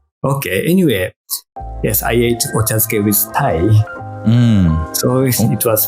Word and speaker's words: ochazuke: I've only seen chokase. Is that how you pronounce it? Sorry? The chokase, is that how you pronounce it? Oh, the food? Ochazuke.